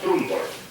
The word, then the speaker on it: Trumbull: Tal cual como se escribe, se pronuncia, Trumbull.